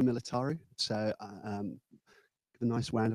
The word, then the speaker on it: Militaru: I didn't know how to pronounce her surname, so I thought I'd just check, but it's Militaru.